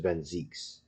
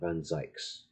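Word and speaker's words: van Zieks: on bear appendix is just whatever it's it's Zeke's I'm sure of it looks it looks like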